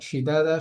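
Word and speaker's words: شدادا: সাবআন শিদাদা, শিদাদা শব্দটির মধ্যে এসে আমরা দালে একালিফ টান দিচ্ছি এবং এই দালের মধ্যে একালিফ টান দিচ্ছি, কারণটা ওই আগের নিয়ম, জবরের বাম পাশে খালি আলিফ মাদের হরফ।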